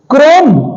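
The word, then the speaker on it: chrome: टक ए साइलेंट है क्रोम चोम नहीं है सी चम चोम नहीं है य क्रोम है क्रोम ठीक है इ नहीं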